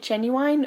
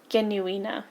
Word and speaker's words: Genuine: be watching it okay should we be calling it genuine or the J genuina genuina yeah that would be the uh the German pronunciation we should probably stick to that it's probably the name